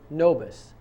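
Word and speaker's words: nobis: that in mind a RIT of error Corum nois RIT of error Quorum spelled c o r a m and the next word is nois n o b i s don't confuse that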